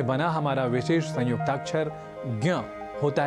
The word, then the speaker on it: ज्ञ: हैं तो इसी तरह ज और ञ के उच्चारण को ध्यान में रखें तो ज्ञ अर्थात ज्ञान ऐसा ना कहकर ज्ञ का प्रयोग हमें परंपरा या अधिक प्राप्त होता है सार रूप में ज्ञ इस संयुक्ताक्षर के उच्चारण में कुछ पारस्परिक और पारंपरिक भिन्नता एं देखने को मिलती हैं और कई बार